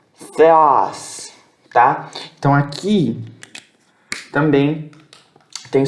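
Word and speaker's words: Θεός: Isso aqui é Theos, Theos. O que é isso? Significa Deus. Se escreve com TH, se lê com F, tá?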